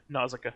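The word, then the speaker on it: Nausicaä: was lost with this nazika justin is it nausicaa yeah it's two ways uh but yeah but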